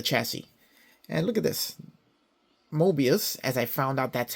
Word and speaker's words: Moebius: Moebius, as I found out that's how they're pronounced, has their label right inside the fuel tank.